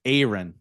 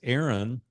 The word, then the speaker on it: Aaron: say your name wrong it's Aon it's big a big a you can't mess that up nobody can pronounce it correctly because it's Aon but everybody says Aaron and so a buddy